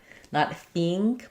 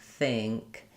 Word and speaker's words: think: But I don't want to go all the way to ing. I don't want an E sound, not think, but think.